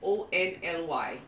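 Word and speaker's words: ounli: This word is actually pronounced like O-N-L-Y.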